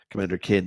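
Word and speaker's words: Commander Keen: yeah I'm sorry commander commander kin it's pronounced Commander kin by the way yeah Commander kin been saying it wrong all these years uh Edge Lord Ed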